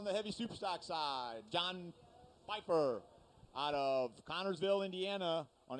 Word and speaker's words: Pfeiffer: How do you say PF? All right. PFI. Is that Pfeiffer? Pfeiffer.